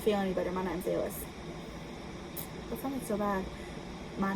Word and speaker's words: Ellis: E-L-L-I-S. Like the island.